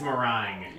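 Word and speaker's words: Meringue: video though y uh now I pronounce this moring clouds it's morang as in as in the mering pie yeah it's morang time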